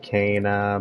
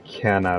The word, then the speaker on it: Canna: the canna outfit and i know it's pronounced kana but you know i just like saying kenna better you know like it's